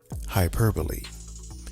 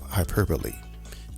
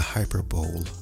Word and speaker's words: hyperbole: I'll have the hyper bowl of soup, please. Nope. The B O L E is pronounced using two syllables.